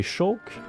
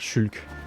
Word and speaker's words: Shulk: Tu es qui entre Ricky et Shoke ? Tu sais quoi ? On va arrêter de dire shoke. On va dire Shulk.